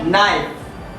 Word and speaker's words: knife: को लिखेंगे लिखते समय, लेकिन N के पहले लिखे जाने वाले K का उच्चारण नहीं होता है, K साइलेंट हो जाता है।